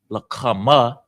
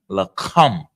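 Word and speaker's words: lakam: Without the a on the ma at the end, it's not la kama, it would be la come.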